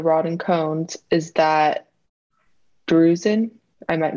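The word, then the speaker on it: drusen: waste of the rod and cones is that bruising i might mispronounce that d-r-u-s-e-n yep you you pronounce it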